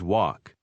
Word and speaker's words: walk: We always walk. En los números 4 y 5, ¿pronunció correctamente la letra A después de la W y antes de las Ls?